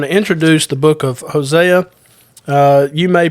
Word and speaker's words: Hosea: books of the Bible we didn't say josea Daniel uh so for for most folks it's Hosea we we know who